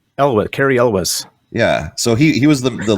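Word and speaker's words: Cary Elwes: Carrie Elwes.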